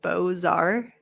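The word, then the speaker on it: Beaux-Arts: like this is pronounced bozar like you pronounce the X there x is silent says my moon thank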